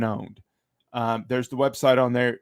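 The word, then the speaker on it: pwned: It's a P, but you pronounce it. Have I been owned?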